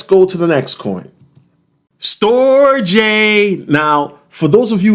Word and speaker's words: Storj: will tell let's go to the next coin store J now for those of you who've been watching